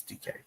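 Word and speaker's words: Dike: DK uh Chamira DK, that's spelled D I K E, by the way. I I said it wrong a million times. I got a bunch of uh crap for it. So, Chimera DK, spelled D I K E, but it's DK.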